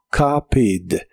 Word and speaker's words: copied: Es un verbo regular y en el pasado termina con ed, aunque de estas dos letras solo se pronuncia la D y suena como copied.